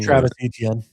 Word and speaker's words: Travis Etienne: Travis Etienne.